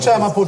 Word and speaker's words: kuchaya mapoto: No, call it, say it like Kuchaya mapoto this. chico. Say after me, kuchaya mapoto.